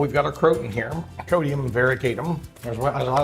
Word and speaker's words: croton: And, or croton, but crouton if we're having soup and salad. I even like to say it wrong just because it'll help you to remember how to say it right. So crouton to croton is that's the right way to say it.